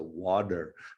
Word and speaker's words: water: say water but we we americans pronounce it with the d sometimes right a d sound so water i don't know why